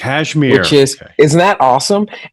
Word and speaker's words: Casimir: It's actually pronounced Cashmere, which Cashmere.